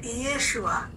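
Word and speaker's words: ישוע: তা এই ঈসা আলাইহিস সালামের নাম যেটা অরিজিনাল নামটা এরকম উচ্চারণ ছিল যে ইয়েশুয়া।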